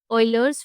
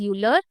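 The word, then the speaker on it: Euler: This is called ऑयलर्स formula. क्या कहते हैं इसे बच्चों? ऑइलर्स formula. It is written as यूलर बट इट is pronounced as ऑयलर।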